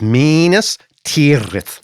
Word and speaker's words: Minas Tirith: It's Minas Tirith.